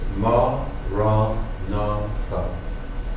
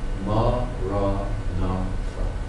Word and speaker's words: Maranatha: And if you choose that word, say it as 4 syllables, Ma, Ra, Na, Tha. Ma, Ra, Na, Tha.